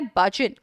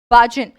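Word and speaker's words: burgeon: भजन, इसका प्रोनाउंसिएशन है बाजन। बाजन, बाजन।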